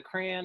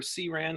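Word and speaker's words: CRAN: package that's available on on the crayon or C ran however you prefer to pronounce it it contains various functions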